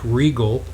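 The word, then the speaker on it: Riegle: Rick Regal, and his name is spelled R-I-E-G-L-E. Rick Regal, and he's with Edward Jones here in South Orange County, California, and he's a financial advisor.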